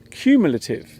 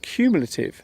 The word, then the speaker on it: cumulative: The word is cumulative. The first syllable of this word sounds like the letter Q. The word cumulative is an adjective and